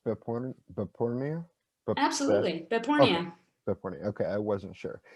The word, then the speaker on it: Behpoornia: using my actual name is the last name pronounced bipolar but porno absolutely okay i wasn't sure yeah i i